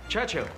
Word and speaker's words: Churchill: James's visit his Churchill Churchill that's how you say it all together like that I'd heard church and hill but couldn't find either